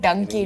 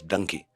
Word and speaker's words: Dunki: SRK even mentioned that the word donkey is called Dunki in Punjabi. It could be called donkey. It is donkey. The way a part of the country pronounces donkey in India is Dunki. The Punjabis, they say Dunki.